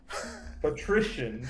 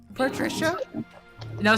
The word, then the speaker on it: Patrician: The nobles murmur amongst themselves, looking between Irina and Lord Patrician. Patrician Spray. You know how to say the name Patricia? Patricia? No, say it like it's Patrician. It's a location you can be from.